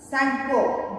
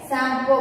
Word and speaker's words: Tsangpo: T आपको बोलना नहीं है, Sangpo बोलना है. क्या बोलना है? Sangpo. Okay? T is silent there.